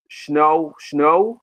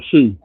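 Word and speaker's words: Shough: I think that Tyler Snow. How do you pronounce his name? Tyler Shoe.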